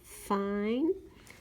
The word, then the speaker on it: fine: I think it would be the word fine. And I'm going to write the word right here. F-I-N-E. That silent E tells the I or the vowel in the middle to say its name.